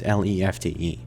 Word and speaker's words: Lefty: By the way, yes, his name is spelled Lefty, but the procedure is Lefte.